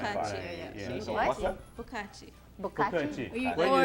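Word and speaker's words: 不客气: Bukachi.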